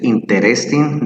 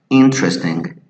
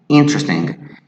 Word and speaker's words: interesting: Many people say interesting. They even pronounce this letter E here.